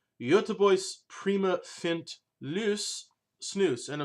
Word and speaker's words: Göteborgs: pronounce this Goethe Bork's however someone who is much more in the know than I am has told me that the appropriate pronunciation and I'm in a butcher the hell out of this is actually the other voice so in that butchered spirit we're going to be talking about yo tu vois prima fint loose snus